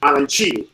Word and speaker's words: arancini: Arancini.